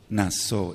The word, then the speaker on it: Naso: es la parashá naso naso n a s de Sargento y la letra o y va con acento en la o digamos la acentuación nz